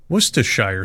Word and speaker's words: Worcestershire: its name can be a bit of a tongue twister worshire sauce wer sauce wer sauce all of these pronunciations are acceptable as are the endless